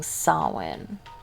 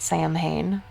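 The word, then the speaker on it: Samhain: in the preview image saying sawin you want to take a bet on whether they pronounce it Sam hay you're Googling it oh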